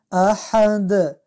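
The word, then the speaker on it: أحد: قل هو الله احد، احد ایجا هم حی از باید از حی از وسط حلق با فشار تلفظ شد.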